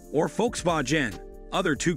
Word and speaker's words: Volkswagen: often mispronounce it as Volkswagen. Again, it boils down to phonetics. That said Folks-vagen or Folks-vah-gen, other two correct pronunciations. The German V is pronounced as the English F.